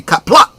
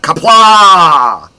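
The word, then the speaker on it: Qapla': There is a glottal stop at the end of kapla, so it should be kapla, not kapla.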